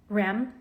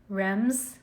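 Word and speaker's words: Reims: There'd never been Rem. What did I say? Rems. How do you pronounce it? You don't pronounce the M, but you do pronounce the S.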